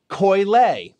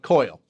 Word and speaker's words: Koyle: third wine in this series it comes from Coyle that's how it's pronounced not coil they are located in the San Fernando Deo